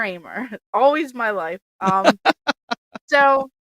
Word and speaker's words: Ahmer: name it it like it's not gamer armor no not how it looks the H is silent it's gamer Amer always my life um